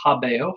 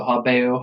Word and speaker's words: habeo: So let's start with the first word here, which is habeo, habere, habewi, habetum. That is how you say it. You always do the 4 principal parts, right? So habeo, habere, habewi, habetum.